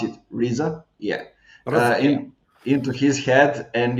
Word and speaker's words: RZA: actually get into the 's head how you pronounce it RZA yeah into his head and you know you